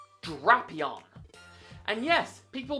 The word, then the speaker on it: Drapion: Not Drapion, Drapion. And yes, people mispronounce this one too.